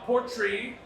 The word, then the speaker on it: Port Rìgh: Port Rìgh, which is how you pronounce this nonsense, right?